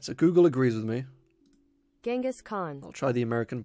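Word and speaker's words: Genghis Khan: but um thanks for dropping by anyway um genas Khan I'm not too sure what you mean by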